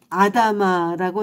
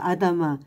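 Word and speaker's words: אדמה: 아담은 구약 성경의 창세기에서 하나님께서 창조하신 최초의 인간이며 히브리어 아담의 이름의 유래는 아다마라고 읽는데요. 아다마, 그 뜻은 흙이라는 뜻이에요.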